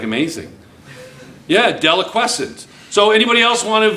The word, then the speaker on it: deliquescent: What is deliquescent? That's actually a very nice pronunciation of that word. It's actually pronounced deliquescent.